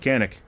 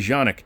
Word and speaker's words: Canik: Hey, what rhymes with Canik? Nothing, because it's actually Janik.